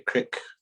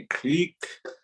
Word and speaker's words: creek: in in Pine radio I say criek but up here we say Creek because it's e e you know if you spell it out Creek it's e e which makes a e sound so up here in